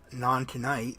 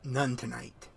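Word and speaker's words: Nontoonyt: I kept pronouncing it Non-Tonight. It's actually pronounced None Tonight, according to the basically the official guidebook.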